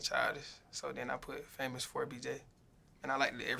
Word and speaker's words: FAMOUS4BJ: is famous with a number for BJ yeah famous for BJ do people mispronounce this um some people be trying to